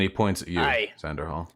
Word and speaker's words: Xanderhal: Ian, Xelia, Hui, and Xander, is it? And he points at you, Aye. Xanderhal. It's pronounced Xander.